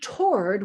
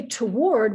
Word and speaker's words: toward: the entire word so this is a stressed ar following a w which means that we pronounce it as we do in thwart toward award right so